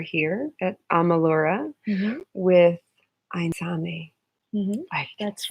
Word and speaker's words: Aintzane: with Aintzane.